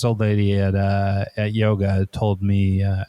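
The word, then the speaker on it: Mø: Her name is, here in the States, everybody I know calls her Mo, but because her name is spelled M-O with a circle through it. But I've been told by somebody from Denmark that it's pronounced more like M, which isn't very exciting.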